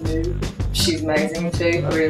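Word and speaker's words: MØ: That Mo girl, I think you pronounce it Moo.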